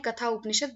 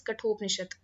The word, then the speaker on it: कठोपनिषद: जैसे इसमें लिखा हुआ है वो इंग्लिश में कथा उपनिषद, बट एक्चुअल में जब आप हिंदी में बोलेंगे तो सही इसका जो प्रोनाउंसिएशन है दैट इज कठोपनिषद।